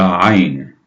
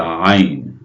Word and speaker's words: ayn: Now let's move on to the next letter, the ayn. Now this one is very hard to pronounce for non-Arab speakers. The ayn, ayn.